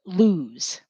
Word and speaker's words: Lewes: and that was called Lewes. Well, maybe it's called Lees. Probably Lewes because of the origin of the word, but it is spelled like Lees. Lou. It's OU that we do use at the end of English word.